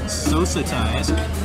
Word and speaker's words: sosati: Pronunciation correction, it is sosati, which is a South African dish usually composed of meat.